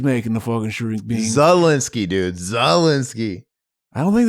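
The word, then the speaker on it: Szalinski: You were saying Skalinsky. No, shut the fuck up, motherfucker. So I think his name's Polish, right? So the S is silent.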